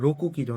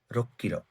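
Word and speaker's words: 六キロ: কিলো, কিন্তু difference যেগুলো, যেমন দেখেন রোকু কিলো না রোক কিলো, এখানে কু আর কি একসাথে 2টা ক উচ্চারণ আসছে দেখে এটা 2টা এক হয়ে গেছে, টুইস্ট হয়ে গেছে, দয়া পাতা লাগাও, রক্কিরো।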